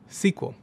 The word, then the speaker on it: SQL: of them, spreadsheets and structured query language, or SQL, which is often pronounced SQL.